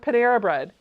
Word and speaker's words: Panera Bread: Do the same thing with Panera Bread. Panera bread. Yeah, Panera Bread. Yeah. No, all together.